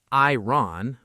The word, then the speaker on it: iron: This word looks like it should sound like iron, but it doesn't. We say iron. The O almost disappears.